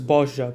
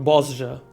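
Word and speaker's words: Bozja: Um, and it's why I pronounced it as BOJA because I was uh I was what's the word? Corrected on the pronunciation and not Bosa like I was saying before.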